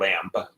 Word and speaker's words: Lamb: Can't pronounce that. Lamb. Oh, There's really? a B on the end.